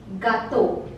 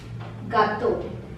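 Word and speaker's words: gâteau: silent second word is for a cake gato gato I already told you all these sounds a a u together produces the sound o and similarly I have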